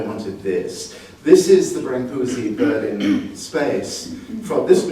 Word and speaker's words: Brancusi: everybody, you know, that you pronounce it Brancusi, but let's do Brancusi.